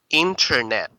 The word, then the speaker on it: internet: British and American accent so it should be internet internet internet internet but another way of saying it you have to omit the the T okay it should be